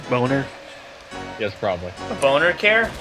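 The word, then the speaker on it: Boehner: the represent or representative bainer to Y Obamacare he's going down I believe his uh the proper way to pronounce his name is boner yes probably a boner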